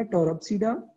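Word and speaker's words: Pteropsida: और fourth one हमारे पास है टेरोप्सिडा, इसमें पी साइलेंट आ जाएगा, रहेगा टेरोप्सिडा, और इसमें हमारे पास फर्न्स जो है वो आ जाते हैं।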